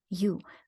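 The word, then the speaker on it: у: you of a unicycle the word unicycle starts with the U which is an approximate English equivalent for the Russian letter u good the next one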